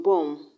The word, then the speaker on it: bomb: usually silent for example the b in bomb is silent the b in com